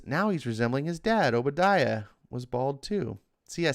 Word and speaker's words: Obadiah: Ed Brewer says Obadiah.